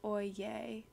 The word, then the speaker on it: Oyez: Pronounced oy yay.